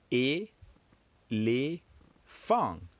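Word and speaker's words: éléphant: Just like in English, we have elephant, 3. In French, we still have 3. Let's count together. E, les, fang.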